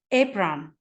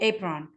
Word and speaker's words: apron: Also the word apron، أيضا كلمة apron ننطقها بالصوت الطويل رغم أن هي المفروض قاعديا كالصوت القصير. But we say that before this is irregular words.